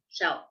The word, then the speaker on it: she'll: Pero la pronunciación es un poco diferente. Shell es como algo que encontrarías en la playa, shell. Pero she'll, como la contracción, es más énfasis en como she'll, he'll.